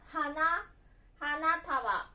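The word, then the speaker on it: 花束: 花束と読みます。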